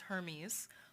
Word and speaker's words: Hermes: believe that he's dead hermes is his father so there we go and yes as far as i know it is pronounced hermes unlike the fashion label so that's that and